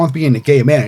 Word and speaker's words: Gaiman: He goes, is your name pronounced Gay Man?"